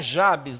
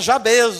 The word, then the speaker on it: Jabez: Não, não é Jabes. Se você reparar, termina com Z, não é isso? Quando uma sílaba termina com Z, quando a gente estudou lá na quarta série, que significa que a sílaba tônica forte fica nela, não é isso? Então é Jabêz o nome que tá escrito aí pra gente ler.